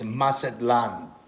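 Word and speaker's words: Mazatlán: ] she lives in mazatlan which is on the other side of mexico and she does uh she uses i believe the uh pronunciation is masadlan yeah pretty much i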